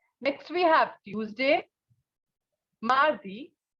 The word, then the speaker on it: mardi: Mardi. Mardi.